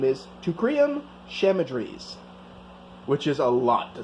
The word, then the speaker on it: Teucrium chamaedrys: But anyway, its scientific name is Teucrium chamaedrys, which is a lot to say. I had to verify that pronunciation.